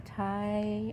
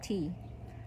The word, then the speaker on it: ti: Here's another Hawaiian ti or actually tea. Hawaiian tea, it's t i but it's pronounced tea like iced tea.